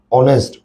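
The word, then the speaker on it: honest: অনেস্ট, অ। তাহলে এইচ এর উচ্চারণ হয়ের মতো হলে কি দিবা, এ।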